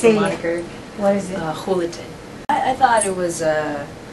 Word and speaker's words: Julaton: as much as we would tell them my last name, even though it starts with a J, they'd mm-hmm. always mispronounce it. It sounds like an H, sounds like an H, and we came with a moniker.